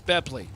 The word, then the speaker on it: Bepley: We're not going to go through all this again. It's Bepley. Apparently, it was explained. It was explained incorrectly. Oh. From now on, It's pronounced Jesse.